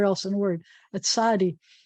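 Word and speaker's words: צדי: There are other languages that have one character that makes the sound that in English requires two. Some people will spell it as TS, and some people will spell it as TZ. But either way, it's a tsa, and it's its own consonant.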